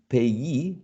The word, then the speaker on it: payee: So payee, employee, journalese, cigarette, and picturesque are interesting cases in which the stress shifts to a different syllable. But in this case, the stress syllable is the one which is the suffix, right?